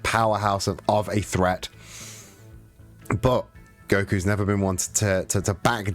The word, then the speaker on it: Goku: Last time we saw Goku, we had that announcer that kept getting everyone's name wrong and kept calling him Goldco.